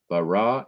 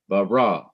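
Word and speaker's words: ברא: 1, verse 1, Bereshith, bara, Elohim, on each of the last syllables of these words, you have different accent marks, indicating that the last syllable of each word is to be stressed or emphasized.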